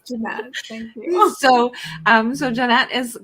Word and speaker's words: Jeannette: I'm going to try to change to that, but no, it's Jeanette.